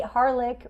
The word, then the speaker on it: Harelik: Her name is Tiffany Harelik, rhymes with garlic, from Wise Skies Collective.